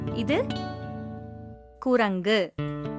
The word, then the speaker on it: குரங்கு: இது குரங்கு. இதுதான் சரியான உச்சரிப்பு. சில சமயம் அதையே குரங்குன்னு சொல்றது தவறான உச்சரிப்பு.